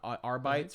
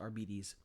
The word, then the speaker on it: Arbites: has officially stated that it's not arbites from 40K they're not proun arbites they're pronounced arbes and um [ __